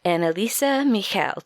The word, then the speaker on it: Anneliese Michel: going to tell you about the exorcism of annalisa Michel did I pronounce that right you know it's pretty much